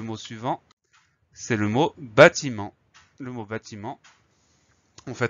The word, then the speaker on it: bâtiment: et ensuite le reste ça s'écrit comme ça s'entend t I m e n t on a la lettre finale muette t qu'on n'oublie pas là